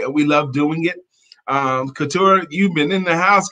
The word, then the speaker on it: Katura: Katura. Like fiesta. A 3-syllable word.